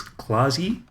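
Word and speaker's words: Klaasje: a pronunciation guide so this is clausie uh like center neck claws and then uh the je is yee a silver jumpsuit falls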